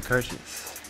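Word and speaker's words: Kertész: his name is andre kurchus yeah yeah his name is hard to pronounce because you know he's he's hungarian he's born in hungary and his last name is spelled k-e-r-t-e-s-z yeah you know it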